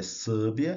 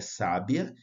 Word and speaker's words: sábia: é som aberto então o caso de sábia não é sbia é sábia então tem aqui indicando que